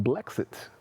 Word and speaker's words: Blexit: Blexit? Remember Brexit? Black Exit. Yeah. Blexit.